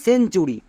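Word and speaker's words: century: যেমন সেঞ্চুরি, এখানে দেখো টি এর ঠিক পরে ইউ আছে, তাই টি এর জন্য টো কিন্তু হয়নি। যদি টি এর ঠিক পরে ইউ থাকে তখন টি এর জন্য চ উচ্চারণ করব, মনে থাকবে।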